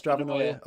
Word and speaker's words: Stravanoia: Do you pronounce it Stravanoia? Is that the correct pronunciation for it? Like paranoia, but Stravanoia. Okay.